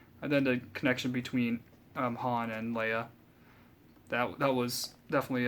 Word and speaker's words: Han: The thing that annoyed me most that he can't pronounce Han. It's not Han. It's Han. Watch these movies enough to know it's Han, and I don't know why people always mess around calling him Han. It's Han. It's never been Han.